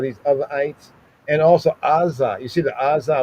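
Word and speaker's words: Azzah: In English, we say Gaza, but that's not there. It's because that Ain is not pronounced as a regular A. It's not Azah, but it's Azah, right?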